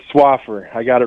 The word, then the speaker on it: Swaffar: times i just want to make sure i'm pronouncing it right darlene slapper swapper yes swaffer i had it right when before you came